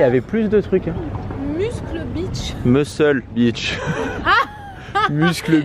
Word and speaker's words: Muscle Beach: Muscle Beach. Muscle Beach. Ah. Muscle Beach. C'est en Amérique, ça se prononce muscle. Ah oui, c'est quand même Muscle Beach. Oui. J'ai cru que j'avais inventé un C.